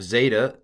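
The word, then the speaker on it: ζῆτα: Then we have zeta, z. I'm going to do it as a dz in the middle of a word, baptizo, z. At the beginning of a word, I'm just going to pronounce it with a z, zebra, which is not a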